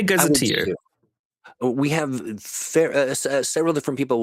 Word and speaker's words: gazetteer: Do you say gazetteer? Gazetter? I would say gazetteer. I would say gazetteer.